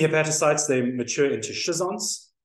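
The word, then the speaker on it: schizonts: they mature in into shison which I'm told by Dr Murray is the correct way to pronounce them not another way as you can imagine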